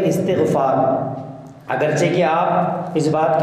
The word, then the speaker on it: استغفار: طور سے استغفار، کہ استغفار سب کہہ رہے تھے بلکہ اس کا تلفظ ہے استغفار، اگرچہ کہ آپ اس